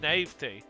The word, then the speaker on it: naive: The e is silent. It really is silent. It's naive.